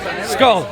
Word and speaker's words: Skål: Skål. Skull.